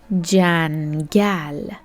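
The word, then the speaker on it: جنگل: J plus a plus n plus g plus a plus l. Together jangal.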